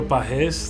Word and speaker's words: Pagés: my name is bahes that's how you pronounce it in Spanish and I'm a catcher